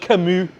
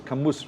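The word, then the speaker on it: Camus: some Shakespeare and Albert kamu kamu yeah I thought they thought it was kamus which rhymes with what what yeah um no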